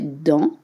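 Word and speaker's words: dans: You don't pronounce the consonants at the end of French words. You say D and it's spelled DNS.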